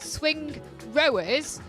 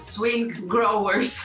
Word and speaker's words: Swingrowers: name because she's heard various people try to pronounce it swing rowers and swin growers which i think both are